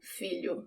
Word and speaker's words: filho: The sound of the LH, it's not the tip of my tongue that touches the roof of my mouth. It's sort of the middle of my tongue. It's almost if I have ly in English instead of lh in Portuguese, but it's subtle.